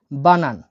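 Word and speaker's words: банан: কলাকে রাশিয়ানে বলা হয় বানান।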